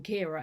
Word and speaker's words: Kiara: I was inspired to do this video because Kiara, over on, I think her channel name is Kiara Foster. Editing Charlotte here, just to say that I can't pronounce names and my mind has always pronounced